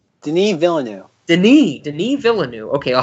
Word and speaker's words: Denis Villeneuve: me and the oh god I hope I'm pronouncing this right Denny Villa new Denis Villeneuve Denis Denis Villeneuve okay I'll have to like